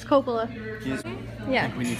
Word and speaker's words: Coppola: It's Coppola.